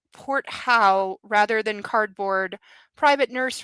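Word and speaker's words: Porthault: I believe it's pronounced port how rather than cardboard, private nurse rather than shelter, capital P O R T H A U L T.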